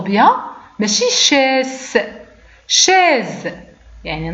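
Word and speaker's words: chaise: دونك نطقنا بها زد شاز. دونك لا شاز هو الكرسي، هذا اون شاز. دونك شاز نطقنا بها على شكل زد. كوز كوز.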